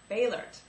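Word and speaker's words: Boehlert: to mispronounce his name, I want to say Bollert, but it's Baylert, Eric Baylert, but we spell Bollert, about Jeffrey's new book,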